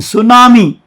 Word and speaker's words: tsunami: And tsunami, this T is silent here, the Japanese word.